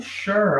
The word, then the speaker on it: sure: É só ok ou sure. Olha esse sure aqui, olha esse sure. Olha a pronúncia, ó. Sure. Sure. S-U-R-E. Cadê o S-H, gente? Não tem H aqui, é isso mesmo. A pronúncia é sure.